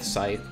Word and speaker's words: scythe: I think I said skith earlier. I mispronouncing. Skith, scythe, whatever.